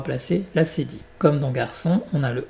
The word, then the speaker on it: garçon: Et le CCD, pour garder le son S, comme le serpent, souviens-toi. Garçon et pas garcon.